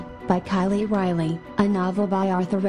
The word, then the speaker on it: Kiley Riley: story my name is Kylie Riley yes it Rhymes and yes it is